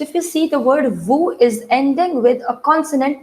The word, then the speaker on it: vous: Now, can you see, but I told you the pronunciation of VOUS is VOO. Then why am I saying it as VOOZ? Why am I saying it's VOOZ, VOOZ? From where the sound of S is coming?